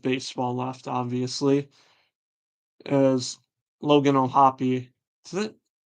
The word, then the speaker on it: O'Hoppe: Pretty sure, yeah, it's O'Hoppe. Correct me if I'm wrong, but yeah, it's not just O'Hop, right? Like the E has to. I feel like you got to pronounce the E.